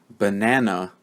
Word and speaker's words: banana: but na na okay but you might notice that when I say the word banana they don't all sound the same these syllables and the way that I'm pronouncing the letter a does not sound the same right banana banana you might be able to hear a difference now um so you